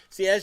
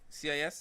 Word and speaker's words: cis: CIS? It's CIS. Okay. The cis, yes, CIS. Technical staff is shaking their head. No. Saying which is the right correct spelling. You don't enunciate all the letters.